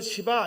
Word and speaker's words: 시바: 나왔어요 일부 때리고 논쟁이었어요 발음을 씨바라고 해야 시바라고 해야 되냐 어감이 그러니까 그래서 이렇게 불러도 좀 욕같고 막 이래서 오늘 박대성 강사님이 잘 불렀어요 그냥 붙여서 시바 이러면 표가 안 나는 거야 근데 밑으로 하든 쓸데없는